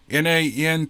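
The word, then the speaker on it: nantinaq: here as the nantina n-a-n-t-i-n-a-q Carol says it's pronounced nantina but it could be nantanak nantanak I guess and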